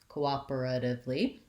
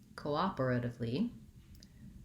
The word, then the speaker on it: cooperatively: div rather than tif i can use a regular t in this word and it'll be correct people will understand but americans will use it as a flap say it more like div and lastly i have